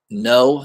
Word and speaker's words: Ng: chaos number one kill no I believe his last name is ng use it's pronounced no he's a Filipino artist